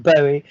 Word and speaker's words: Bowie: dublin bowie festival to give a talk it's pronounced bowie by the way i mean i yes i